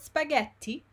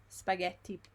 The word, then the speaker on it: spaghetti: And also, just to like go back to what we did before, the word spaghetti, yes, normally is before the word spaghetti we have gli spaghetti, the article, yes.